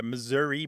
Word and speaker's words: Missouri: phone surveys is that the Missouri pronunciation was taking over and the Missoura pronunciation was disappearing except as you say by politicians who think that they're going to Garner some votes by seeming like an authentic Missourian yes well Grant you're